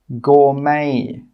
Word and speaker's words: gourmet: The letter T is not pronounced in these words. Castle, Christmas, gourmet, listen, rapport. In all of these words, we're not pronouncing that T sound. It is silent.